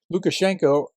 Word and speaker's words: Lukashenko: Lukashenko, it's spelled differently depending on who's pronouncing it or spelling it. Lukashenko is how we would pronounce it as English speakers, gave another delusional interview to Russian propagandists.